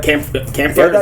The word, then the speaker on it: Kampfar: Hey, you guys got to check out Kampfar. Am I pronouncing that right?